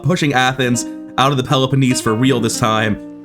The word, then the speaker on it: Peloponnese: Athens out of the Peloponnese for real this time, which apparently is Peloponnese and not Peloponnesus, and I am heartbroken by this.